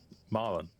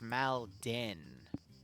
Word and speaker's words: Malden: Maron. Yeah. No, no, you're even pronouncing it wrong. It's Maldin.